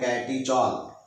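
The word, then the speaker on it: catechol: इसको बोलते हैं कैटीचॉल, स्पेलिंग है CATCHOL, कैटीचॉल।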